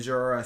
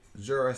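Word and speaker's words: Jorja: And then Jorah Smith. Who? Jorah Smith. J? G? Jorah? How do you spell that?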